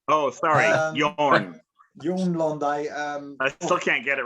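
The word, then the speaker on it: Jørn Lande: Yes, Jorn Londe. Oh, sorry, Jorn. Jorn Londe.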